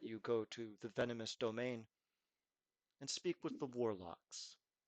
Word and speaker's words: demesne: Now, this word is annoying because it's spelled Demesne. It is the area of account, but it's pronounced domain.